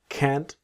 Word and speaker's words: can't: I'm really sorry, but I can't. So, cannot can't. Always that strong t of can't.